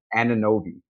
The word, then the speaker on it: Anunoby: Anunoby.